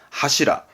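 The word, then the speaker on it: 柱: 그러면 기둥을 의미할 거고 발음은 하시라.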